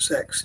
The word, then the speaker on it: CX: Another thing I was thinking of is like a company called CX, or they pronounce it in the advert, they pronounce it sex, but it begins with C as well.